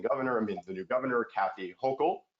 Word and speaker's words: Hochul: And now, the new acting governor, the new governor, Kathy Hochul, rhymes with local, I learned recently, she started moving on it.